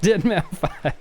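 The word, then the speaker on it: deadmau5: It's pronounced Deadmau 5.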